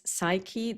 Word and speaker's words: Saeki: So his first name is Shogo, his last name is Saiki, that is spelled Saeki, Shogo, Ki.